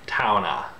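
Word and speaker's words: towne: which is spelled T-O-W-N-E, you have to keep pronouncing that E, and it becomes a sort of ah sound. Towna, towna, towna.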